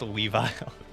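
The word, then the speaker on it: Weavile: type in the chat it's pronounced a weev oh man you know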